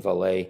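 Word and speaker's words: Vallée: but you know Jacques Valley and I think maybe a Frenchman would pronounce his name valet as far as I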